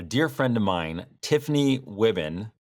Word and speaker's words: Wuebben: friend of mine, Tiffany Wuebben. I said it right. Yep, it's like ribbon.